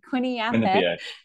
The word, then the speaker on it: Quinnipiac: He'll have to tell me how to pronounce it. Quinnipiac.